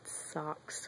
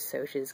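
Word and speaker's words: Socs: socias when he's um is it soas that's how they say it in the movie but I always said socks when I was I I don't know I guess it is soas cuz it's an abbreviation for um or it's short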